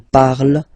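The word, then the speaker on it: parlent: So even if you've got this ENT, don't hate me, but you won't pronounce these letters. Okay, you have to write them for the plural form, but you don't pronounce them.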